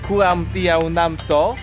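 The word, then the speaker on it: ก๋วยเตี๋ยวน้ำตก: We're eating kuam tiao nam to.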